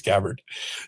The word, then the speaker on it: Gabbard: So Tulsi Gabbard, we can have a debate about how to pronounce her name, but I think it's Gabbard.